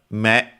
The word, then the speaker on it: 目: Kunyomi is me accented.